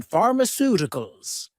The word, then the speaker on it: pharmaceuticals: You may realize that for words ending in ical, the stress normally falls on the syllable before. This helps us to work out the stress position in pharmaceuticals. Pharmaceuticals. Stress on the third to last syllable.